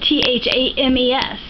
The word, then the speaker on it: Thames: But it's spelled T-H-A-M-E-S. Yeah, Thames. Same as England.